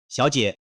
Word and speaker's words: 小姐: 最後，給個發音小提示：「小姐」中的兩個字都是第三聲。當兩個字一起說時，第一個字會變成第二個音調。